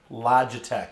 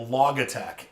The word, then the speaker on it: Logitech: to point out that it's pronounced Logitech it's a play on the word logic I watched probably seven or eight reviews on YouTube and all these knuckleheads were calling it a log attack because they don't they